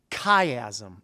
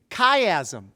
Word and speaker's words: chiasm: teach you a new word the word is caym repeat after me kaym yeah it it looks like chiasm but it's pronounced kaym like the name of our friend